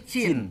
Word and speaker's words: Qin: Qin, tulisannya Qin. Pakai Qi. Iya. Tapi dibacanya Qin.